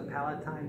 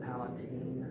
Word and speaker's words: palatine: one is that blues the Palatine bone some people pronounce that Alateen that's it Hey